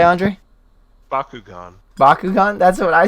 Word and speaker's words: Bakugan: no way how do you pronounce it andre i'm guessing it's just baku what'd you say andre bakugan bakugan that's what i said but he said biaku gone now i'm curious how did some people pronounce